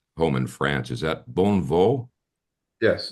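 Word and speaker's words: Bonnevaux: Is that Bonneau? Yes, Bondo. It is. Bondo, yeah.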